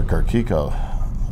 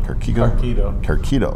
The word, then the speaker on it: Carquito: And we even have one of our mechanics, Mr. Carquico. Pronounce that right? Carquito. Yeah. Okay.